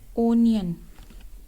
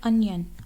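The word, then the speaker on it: onion: Next word है ओनियन, जो कि गलत प्रोनाउंस किया जाता है, वो है ओनियन। ओनियन नहीं है, जो है अनियन, अनियन, अनियन, अनियन।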